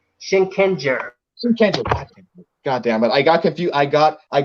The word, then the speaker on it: Shinkenger: Wait, maybe pronounce it for you. Shinkenger.